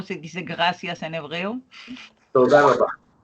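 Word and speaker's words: תודה רבה: Toda rabá. Toda rabá.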